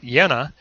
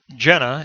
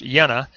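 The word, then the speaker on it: Jena: taking on the position at the University at yenna it looks like it's Jenna in English but it's a it's pronounced yenna I mispronounced that last time but prior to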